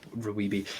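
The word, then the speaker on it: RWBY: bringing up ribbi uh Ruby R WBY yeah I call I pronounce it Rubi I had a long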